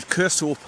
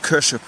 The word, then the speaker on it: Kershope: e kers I mean I would say Cur hope but the Scottish pronounced it kers now you do that's